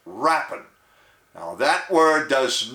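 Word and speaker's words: rapine: heard before the word is r-a-p-i-n-e and it's pronounced rappan now that word does not mean what you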